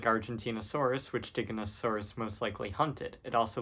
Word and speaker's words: Giganotosaurus: I've seen a lot of people pronounce it wrong. It's, of course, Giganotosaurus, aka Gigantosaurus.